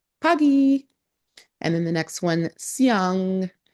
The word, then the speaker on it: pagi: I mean you could spell that but pagi is p a g i. Pagy.